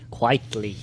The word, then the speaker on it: Quitely: I mean, I've seen was it Quitely? How do you say it? Quietly.